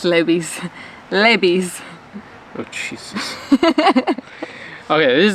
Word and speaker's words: Levi's: Yeah, it's Levi's.